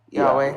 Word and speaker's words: Yahweh: I think it you pronounce it Y a H. Y HW. Yes. Yahweh.